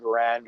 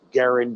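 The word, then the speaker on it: Garand: it comes to the the M1 grand or Garin depending on how you pronounce it um when it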